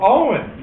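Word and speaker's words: Eoin: e o i n his name was e o i n e oh Owen yeah that's the other spelling for Owen these are the Irish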